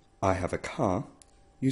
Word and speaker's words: car: A does not change when it's followed by R, and R is rolled, ar. So, though car and car is spelt the same way in English and Welsh, there is a difference in pronunciation.